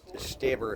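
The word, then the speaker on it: Stoeber: Frank's, you can pronounce it Stober or Staber if you're German.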